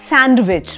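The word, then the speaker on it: sandwich: बोलते हैं सैंडविच right ब इट्स नॉट सैंडविच I mean it इज सैंडविच बट इट्स नॉट सैंडविच एस ए एन डी डब्लू आई सी एच में जो डी है that is silent so we'll actually से सैंडविच या फिर सैंडविच दोनों सही है च भी ज भी बोल सकते हैं आप बट डी की साउंड नहीं आएगी सैंडविच आई am having सैंडविच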